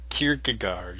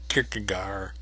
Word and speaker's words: Kierkegaard: okay this video is going to concern mr kierkegaard soarin kierkegaard i'd spell it for you but i don't remember there's two a's and a d hardy at the end of it kikigaar anyway um one of the interesting things about